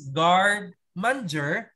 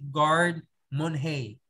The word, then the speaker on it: garde manger: And ang kanyang French term is garde manger, but you pronounce it garde manger.